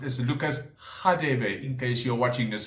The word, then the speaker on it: Lucas: khadebe which perhaps in england is known as lukas okay now that for example is supposed to be pronounced as lucas in case you're watching this from the uk